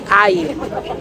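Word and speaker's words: Haia: Meu nome é e no programa de hoje eu estou diretamente de Aie, assim que se chama. Se escreve assim, mas o jeito que fala é Aie.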